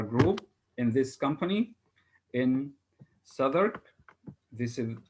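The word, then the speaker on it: Southwark: our assembly our group in this company in southern this is how this uh town its name is pronounced souther at that high class history known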